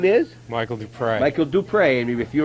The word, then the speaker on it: Duprey: And she said Duprey. And I said, that's not a Chazy name. But they spell it D-U-P-R-E-Y. It's the people who pronounce it Duprey.